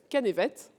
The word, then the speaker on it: Canevet: Et je suis aussi dans ce cas favorable à celui de monsieur Canevet, Canvette, vous me direz comment il faut que je prononce votre nom. Canvette, très bien.